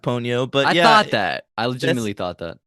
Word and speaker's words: Ponyo: it's it's pronounced Ponyo, but I yeah, thought that.